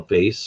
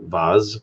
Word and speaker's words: vase: some kind of a vase or Vaz again depending your preferred pronunciation um and and uh